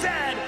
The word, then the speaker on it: Z: And it is pronounced Zed, not Z-Z.